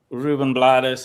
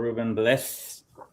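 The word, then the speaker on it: Rubén Blades: Um Really nice uh Ruben Blades is on it or Ruben Blades. However you want to say it. His family says that they pronounce it both ways.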